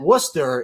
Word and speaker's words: Worcester: I know that Worcester is how that's pronounced if you're in Boston.